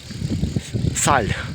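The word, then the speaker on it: Salles: Саль. Саль. Хотя пишеться салес, но по-французьки так інтересно читається саль.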